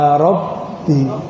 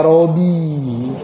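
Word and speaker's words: رَبِّي: Bacanya ya Robbi, bukan ya Robi.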